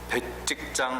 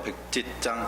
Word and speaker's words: 백지장: 그래서 이 영적인 교만과 영적인 성숙은, 이거 뭐 저희 표현인데, 영적인 교만과 영적인 성숙은 백직장 하나 차이가 있을 때가 있어요. 발음이 뭐라고 하죠? 백지장 하나, 백지장 하나 일 때가 있어요.